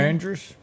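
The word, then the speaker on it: Ingrid Andress: Inga Andrus, how do you pronounce it? Andrus?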